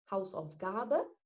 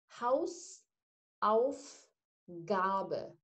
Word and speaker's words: Hausaufgabe: Hausaufgabe. هنطقها تاني بالراحة، معلش أنا آسفة. Hausaufgabe، تلات مقاطع على بعضها.